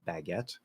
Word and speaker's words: baguette: an odd sound uh so it would be a fourth vowel ah like cat baguette um however the stress is on the second syllable so fully enunciated baguette um which is we